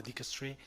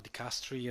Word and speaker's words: dicastery: No, we're talking about the dicastery, or dicastery, as depending on the pronunciations, and we're talking about the section migrants and refugees guided by the Pope.